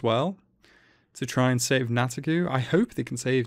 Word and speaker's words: Nataku: Nataku, yeah.